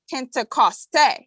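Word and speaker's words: Πεντηκοστή: Pentecost, meaning 50th or 50th day, pronounced in Greek Pentecoste, and occurring precisely 50 days after Passover in this Gregorian month of May.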